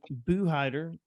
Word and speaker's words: Buhidar: We have Jonathan Buhidar.